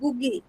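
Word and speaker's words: Ngũgĩ: বারে বারে দেখতে পাচ্ছেন গুগি এনটা সাইলেন্ট থাকে গুগি ওনার নাম এখন যেভাবে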